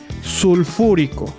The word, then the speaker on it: sulfúrico: Para el que sigue sulfuroso y para el mayor debe ser sulfúrico. Recuerden que la palabra cuando lleve ico debe de ser esdrújula. Ponemos una tilde en la antepenúltima sílaba.